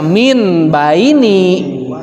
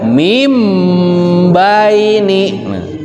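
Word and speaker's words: مِن بَيْنِ: Jangan dibaca min baini, tapi membacanya mim baini.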